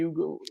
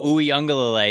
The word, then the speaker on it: Uiagalelei: Did you mention the Clemson guy, DJ Ugo? No, Uiagalelei is how you say his last name, but I didn't mention